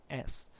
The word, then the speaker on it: Jolles: However, if you really find it, Otto Jolles is spelled Jowles. So Otto Jolles.